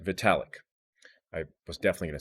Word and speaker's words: Vitalik: is the founder of ethereum how do you pronounce his name vitalik vitalic i was definitely gonna say it wrong so vitalik uh i read some of his literature at